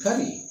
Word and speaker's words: curry: What is the second R doing in curry? Nobody knows. And you cannot add additional sound here. Curry. No way. No way. The stress is on K, not on R.